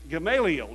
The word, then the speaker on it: Gamaliel: Gamaliel, yes.